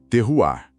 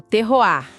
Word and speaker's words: terroir: E antes de mais nada, a fonte faz questão de lembrar a pronúncia correta que vem lá do francês, terroar, com aquele R final bem marcado. Isso, terroar.